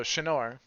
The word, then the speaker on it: Shanor: So Shanor, is that a good way to pronounce it? That is correct. Shanor is waiting at the Coiled Cow Cantina.